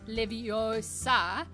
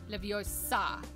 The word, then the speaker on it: Leviosa: the cheapest when they say it's leviosa not livio i can't think of